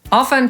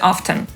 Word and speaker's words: often: nam się czasem usłyszeć No więc jak to w końcu jest ofen czy often dzisiaj większość słowników podaje obie te formy jako poprawne chociaż ofen stosowana jest rzadziej i nie wszyscy językoznawcy